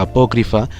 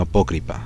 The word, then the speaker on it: apócrifa: nadie le importe esto pero es apócrifa y no apócrifa así que es apócrifa me disculpo por la